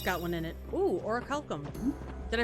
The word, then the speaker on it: orichalcum: Ooh, orichalcum. Did I pronounce it right this time?